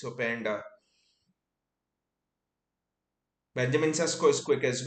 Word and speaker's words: Openda: also going off sorry it's not P it's opanda who's going just pronouncing it wrong and it's Benjamin sasco